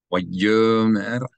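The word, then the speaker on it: וַיֹּאמֶר: Vayomer Moshe El Adonai. Here the Aleph is silent because this Yud, I'm sorry, because this O vowel belongs to the Yud.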